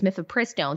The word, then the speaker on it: mifepristone: I always forget which syllable needs the emphasis when we're talking about that horrid abortion pill. It's mifepristone. So we're going to talk